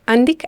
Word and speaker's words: Andic: Andich. Según yo es Andic. Okay. O mínimo todos los videos que yo he visto es Andic. Pero bueno, si se quieren poner fancies, Andich. Vamos a decir Andic.